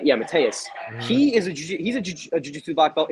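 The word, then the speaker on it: Mateusz: Is it Mateus? Yeah, Mateus.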